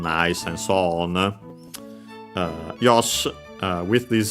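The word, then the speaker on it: よし: uh Yosh uh with this C she technically often pronounced uh as Yosh because the uh e at the end is barely heard if at all uh preceded by an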